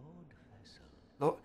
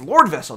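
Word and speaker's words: Lordvessel: ghost you have the Lord vessel why does everyone say it like that it's Lord vessel not Lord vessel the Four Kings whom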